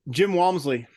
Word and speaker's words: Walmsley: can you say his name for me uh Jim Walmsley okay I was I wasn't that far um